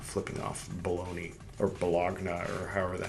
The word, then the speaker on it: Bologna: At Bologna, spelled like baloney, 1820, was printed I just happened to choose this finger I'm not flipping off Bologna or Bologna or however the hell.